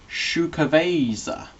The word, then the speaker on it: Xocoveza: XOCOVEZA. Oh, Shukaveza. Tells you how to pronounce it on the back.